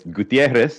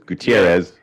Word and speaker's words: Gutierrez: I mean, it's Gutierrez if you're saying it in Spanish. It's Gutierrez, the way I say it, the American. And then some people just throw in that extra syllable, Gutierrez.